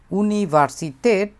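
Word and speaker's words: Universität: এবং এখানে উচ্চারণটা একটু ভিন্ন হওয়ার অন্যতম একটা কারণ হচ্ছে এখানে একটা আ উমলা উঠ আছে ইউনিভার্সিতে এটা দেখলাম আমরা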